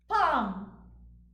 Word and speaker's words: palm: pronounce them Bob calm palm after a we have the constant cluster LM but please note L is silent Bob calm palm L